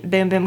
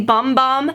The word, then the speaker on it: Bum Bum: It is pronounced Boom Boom. Some of you guys like, because I will always say bum bum, because like bum is a word for like, you know, your booty. But in Brazil, which this is a Brazilian product, when it's spelled like that, they pronounce it boom, like boom boom.